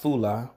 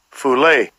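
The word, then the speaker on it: φυλή: the word kindred here that word there in the greek is pronounced fula strong's g 5443 fulay fulay and when you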